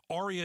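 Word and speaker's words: Aria: Arya is spelled A R I A.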